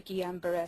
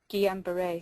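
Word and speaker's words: Guillain-Barré: earlier has not thus far been linked to gamber syndrome Gan B syndrome is the correct way to say it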